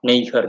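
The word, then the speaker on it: neger: uh is his knee her that's how it's pronounced it's like uh but um n-e-g-e-r nather neighbor nather um yeah literally like black as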